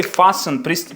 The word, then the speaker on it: fasten: І fasten пристібнутись. Listen слухати. Fen пристібнутися. Ми не читаємо fasten, listen tні ті ні.